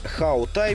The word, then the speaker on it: Hawtai: марках авто вернее правильно произносить how той по автомобильным меркам младенец